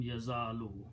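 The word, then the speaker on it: يَزَالُ: Okay, so this word, when there is a fatah here, this will sound like an alif, so this will become yazalu.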